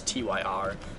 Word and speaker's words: Tyr: uh we supposedly the next guy is uh tier or TI I'm not sure how the to say his name it's tyr it's uh I believe it's freya's brother anyway